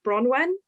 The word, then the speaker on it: Bronwyn: Yeah, it's pronounced Bronwen.